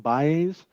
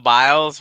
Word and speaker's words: Biles: butcher her name but I believe it's Simone Bayes who is the um n wants to give her a bread stick Simone biles wow B sorry that's why you're here to